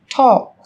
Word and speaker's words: talk: yellow, Một số từ sau đây sẽ có chữ cái L trong cách viết nhưng chúng ta không cần phát âm. Talk, talk.